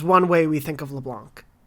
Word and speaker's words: Leblanc: Is the C silent? They don't pronounce the C in the English VO, which is what I listen to.